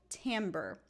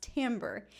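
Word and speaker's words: timbre: but I wanted to mention a word called tambber. It's spelled like this, but it's pronounced tambber.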